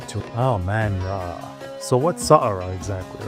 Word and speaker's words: Saqqara: We're here to discover the secrets of Saqqara. Saqqara. And yes, my wife had to correct me on that because she's the pro in pronunciation.